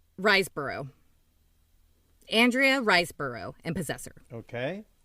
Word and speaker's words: Riseborough: and 12-hour shift andrea reisenboro and possessor wait riseborough i never i always say her name wrong i think it's riseborough andrea reisboro and possessor